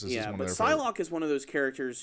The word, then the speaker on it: Psylocke: Psylocke, I never heard of this character, to be completely honest.